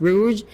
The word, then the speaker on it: Rouge: Rouge like bog but it's pronounced as Rouge.